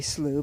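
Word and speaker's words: slough: like it should be slooh but at least it's how they pronounce it here um looks like maybe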